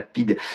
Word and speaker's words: PIDE: On l'appelait la police internationale de défense de l'Estado Novo, et ça s'écrit PIDE, et donc c'est la PIDE.